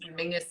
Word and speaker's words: Menzies: that for anybody else mingus is how weirdly the scottish people um that's that's how they would pronounce menzies i don't understand where the g comes out of it but that's it is